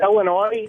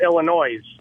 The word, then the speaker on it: Illinois: I was just calling to let you know I'm originally from Illinois, and I now live down south, and everybody calls it Illinois.